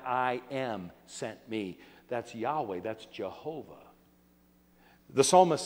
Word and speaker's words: Yahweh: when you see that it is the word we would pronounce Yahweh we would pronounce it Jehovah God says I am